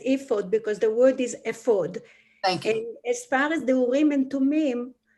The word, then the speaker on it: ephod: The word is actually pronounced ephod because it's a proper name, and you Right.